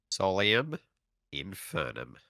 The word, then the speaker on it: Solium Infernum: Solium Infernum.